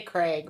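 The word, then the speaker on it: Krieg: Greg it's Craig it's they say Craig but it's spelled k r like I Greg it's like Greg but it's like CG but with a K Craig Craig Craig yeah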